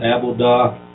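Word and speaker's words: עֲבֹדָה: again the Hebrew 5656 the pronunciation again is aboda and it says work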